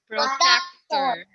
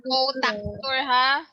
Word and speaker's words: protractor: Somebody said It's not protractor. protector, ha? It's protractor. That's how Some of you are actually saying protector, okay? Protector. Protector. Protector. Okay, let me show you how it's spelled. This one. Pro and then tractor.